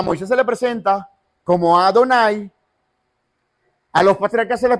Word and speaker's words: Adonai: Y como no tiene pronunciación a nivel fonético, entonces la regla gramatical hebrea te dice, bueno, yo le voy a agregar 4 señales, ¿sí? 4 marcas, para que cuando tú lo estés leyendo, la regla sea, tú lo pronuncies como Adonai.